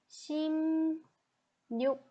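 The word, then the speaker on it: 십육: But actually there is a little bit change in the pronunciation. It should be 심, 육, 심, 육.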